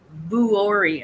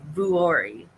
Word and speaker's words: Vuori: sells and she said it's vuori I think is how it's pronounced V is in Victor uo r i vuori um and uh she